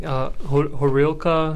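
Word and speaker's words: горілка: It's like Horilka. Yeah. How do you say it? You say it right. Horilka.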